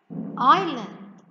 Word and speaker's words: island: we write have h-a-l-f number four island the silent letter here is letter s island number five let's